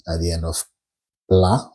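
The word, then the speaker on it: plat: at the end of pla which is mute you don't pronounce it so you just said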